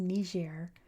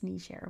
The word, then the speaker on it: Niger: It's definitely pronounced Nishair all over the world nowadays.